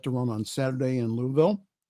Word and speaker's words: Louisville: Crown is set to run on Saturday in Louisville it's not Lewisville it's Louisville got to pronounce it correctly in Louisville however officials from